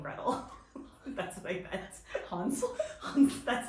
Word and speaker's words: Hansel: Hansel? That's how you say it. Hansel? Hansel and Gretel. That's how you say it in German.